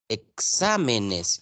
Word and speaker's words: exámenes: Exámenes, ya hay 4 sílabas, exámenes. Y sa es la última, penúltima, la antepenúltima sílaba. Es una palabra esdrújula.